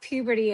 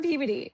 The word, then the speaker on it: Peabody: So I'm from Peabody, Massachusetts. Not puberty as some people think it's pronounced because they're like, "Where are you from?" So I always say Boston. So I'm from Peabody.